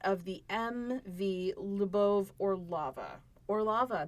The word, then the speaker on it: Orlova: Orlova, that is officially how the Russians pronounce it.